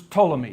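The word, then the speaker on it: Ptolemy: One of his generals name was Tommy. Even though it starts with a P t o l y pronounce it to one of his general's name was Cassander.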